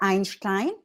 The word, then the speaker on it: Einstein: moment during our tour EI combination how do you say I I it's just like I okay iin s is